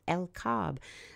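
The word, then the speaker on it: El Kab: in the northern desert landscape of el Cobb let's spell that e-l-k-a-b this area of el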